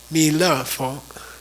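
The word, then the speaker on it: 弥勒佛: Mi le fo.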